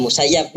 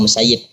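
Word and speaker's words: المسيب: Bacanya Musayyib tak Musayyab bahwa Abu Muhammad Sa'id bin Musayyab atau Musayyib. Wal Musayyab bi fathil ya al musannah min tahtiha musyaddadah. Jadi ada yang mengatakan Musayyab wa ruwiya anhu wa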